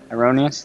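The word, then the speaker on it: Heironeous: Hyroneius. Hyroneius. That's how you pronounce it.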